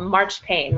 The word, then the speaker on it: marzipan: making things out of marzipan or what they called march pain which was the way the english pronounced the word marzipan which is a german